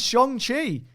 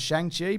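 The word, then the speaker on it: Shang-Chi: bone saw unfortunately jordan says what the is shong chi sure i can answer this uh it's the way you pronounce it i for years thought it was shang chi but apparently that is that's a pronouncer so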